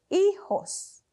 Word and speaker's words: hijos: and an S but in Spanish we do not pronounce the h and for the J it actually has an H sound in English so that's why we